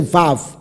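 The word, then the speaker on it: וָו: 那个音调，就是你要念这个时候就是 v，而不是 u，乃是 vav。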